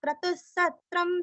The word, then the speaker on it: क्रतुः: क्रतु क्रम का क्र, तू रस्व विसर्ग का आधा स, क्रतुस क्रतुस।